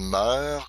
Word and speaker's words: mœurs: Alors, c'est comme un cœur, des cœurs.